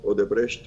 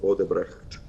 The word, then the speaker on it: Odebrecht: Pronounce, I do it the German way, Odebrecht or Odebrecht.